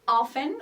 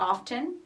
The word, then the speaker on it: often: she goes okay Sam often or often so you can pronounce it uh whichever way you like how often or often it depends so she often visits